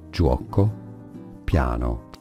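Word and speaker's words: Giuoco Piano: Italians would say it Joo piano Joo piano juo piano that's an Italian word so the big shout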